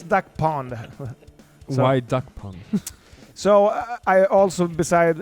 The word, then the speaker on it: Duckpond: but but but now the swedes are like duck pound yeah it's duck pond why so i also